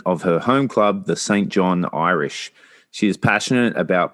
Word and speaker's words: Saint John: first people to correct me on uh the pronunciation of St. John. It's not St. John's as I was corrected when I was in New Brunswick, which is the uh capital of Newfoundland. It's St. John.